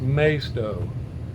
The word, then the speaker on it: Maisto: it over there but if you look it up it's pronounced maisto m-a-y-s-t-o-w which is may stop and uh but i